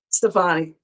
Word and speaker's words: Stefani: What is pronounced Stephanie? Stefani.